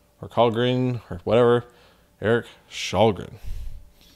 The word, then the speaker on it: Källgren: Not Källgren or Källgren or whatever. Eric Källgren.